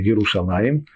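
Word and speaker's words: ירושלים: Кстати, не будем забывать, что хотя мы произносим слово Иерушалаим в двойственном числе, Но пишется-то оно «Еру Шалем».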